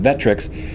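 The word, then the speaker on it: VectRx: Kansas device it's called the vetrix vect and then capital rx pronounced vetrix which is a new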